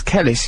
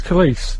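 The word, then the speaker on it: Kelis: definitely pronounced police it's kalis like police isn't it police police so if you're that's a handy tip to remember police it rhymes with police yeah that's that's why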